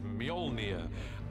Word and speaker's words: Mjolnir: The first challenge with a hammer is to work out how to pronounce it, which is Mjolnir in our movie at the moment.